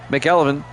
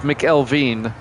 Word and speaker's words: McElveen: Up front, McElvin, Myers, Vincent, Kennedy, and Williams. And then it's George, Fields, Johnson, Ruth, and Randolph. That's pronounced McElveen. I mispronounced it again. McElveen.